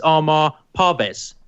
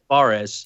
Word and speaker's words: Parvez: It's Armar Parvez, not Barres.